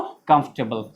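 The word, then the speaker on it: comfortable: जैसे ऑनेस्ट में H silent होता है तो कंफर्टेबल में भी आर साइलेंट हो जाता है और भी लेटर साइलेंट हो जाता है। तो क्या पढ़ेंगे इसको, कंफर्टेबल। समझ में आ रही बात।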